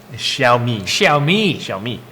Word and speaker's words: Xiaomi: Xiaomi is how you say it.